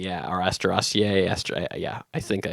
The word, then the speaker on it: Asteraceae: It's actually part of the daisy family, which I'm going to butcher the Latin name, Asteraceae. Asteraceae, yeah, or Asteraceae.